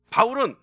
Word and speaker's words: 바울: 됐다 얘기하는데 그거 아닙니다 사울은 히브리식 발음이고 바울은 헬라식 발음입니다 그래서 히브리식 발음으로 할